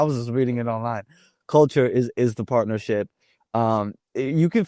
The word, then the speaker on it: Culture: Culture is the partnership.